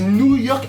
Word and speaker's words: Noo-York: Les Gourmands, bien fait exprès de bien prononcer parce que c'est New York avec 2 O et pas New York comme les États-Unis.